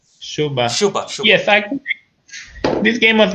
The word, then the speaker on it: Dziuba: This game is against, I don't know how to pronounce his first name. Okay, Marcin Dziuba? Shuba.